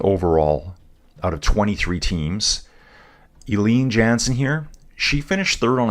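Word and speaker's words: Eline Jansen: Jansen, that's going to be Eileen Jansen. Her name is spelled E-L-I-N-E.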